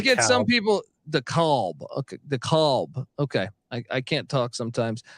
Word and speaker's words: DeKalb: How do I pronounce that, by the way? I always get some people DeKalb. Okay. DeKalb.